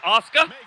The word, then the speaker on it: Asuka: All right, so we got 2 fantastic athletes, and Asuka. That's how you pronounce her name.